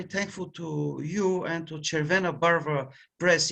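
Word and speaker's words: Červená Barva: to you and to chair vanna barber press in my language it would be pronounced cervena baro which would mean a red color uh and i'm very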